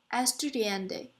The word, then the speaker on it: estudiante: the English word architect the other word is pronounced as estudiante it means student in lish the studying latter